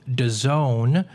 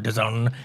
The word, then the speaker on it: DAZN: Also, though, man, they announced a huge deal with DAZN. Don't mispronounce it. It's not DAZN or DAZN. It's DAZN, like the zone, DAZN.